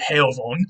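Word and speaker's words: heofon: an old english word heyovon and that f would have been pronounced like a v so it's basically the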